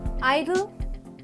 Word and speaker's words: idle: first one idle now we say this as Idle though the E comes in the end of the word you say idle now